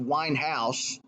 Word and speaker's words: Weinhaus: regards to the quote unquote Weinstein case it's pronounced Winehouse his name is Jeffrey Winehouse first of all and secondly merb has never